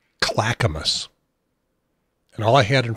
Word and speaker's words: Clackamas: out what I needed to know how to pronounce her town and they said Clackamas but I didn't try was this handy pronunciation